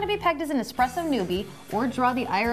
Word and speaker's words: espresso: be pegged as an espresso newbie or Draw the ire of a barista remember there is no X in espresso but you know we're